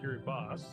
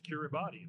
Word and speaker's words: Kiribati: I always thought it was pronounced Kiribati, like the way it was spelled. But then I looked it up one day, the actual correct pronunciation is Kiribati.